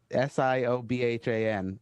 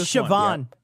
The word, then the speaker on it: Siobhan: one somebody zap put s-i-o-b-h-a-n pronounce that one where are we at wait okay wait it's uh youtube's zap no zap action oh i uh i should know that siobhan there you go that's siobhan i work with chicago